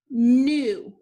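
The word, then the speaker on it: gnu: two has ghost letter digraph gn the g is the ghost letter cross it out the u is at the end of the word so it is going to make a long vowel sound this word is new new which is describing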